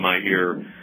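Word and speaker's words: Meir: days had the uh Myer kaganovich pack uh my ear I should pronounce it as in Golden my ear uh kaganovich that was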